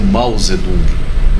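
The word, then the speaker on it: Mao Tsé-tung: praça o mausoléu de mao tsé tung que na verdade se pronunciam mouse e tom pausado é isso dá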